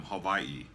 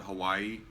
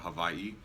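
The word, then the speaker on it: Hawaiʻi: the name comes from Havi which in the middle is pronounced like a V so as some of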